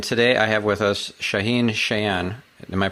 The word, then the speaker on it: Shaahin Cheyene: stefan spencer and today i have with us shaheen cheyenne am i pronouncing that correctly absolutely all right awesome so